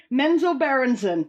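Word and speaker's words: Menzoberranzan: early dungeons and dragons computer game titles like menzo branson is that how you pronounce that menzo mento berenson mentor baronson allen to ask the gaming nerd menzo berenson that's what it's called got it got it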